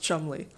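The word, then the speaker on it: Cholmondeley: It's spelled ridiculously, but it's pronounced Chumley.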